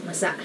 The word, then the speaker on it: masa: You have to be careful of the accents here because masa means moist. But there's another word spelled the same called masa which means the masses. So masa and masa. So just be careful to say it as masa.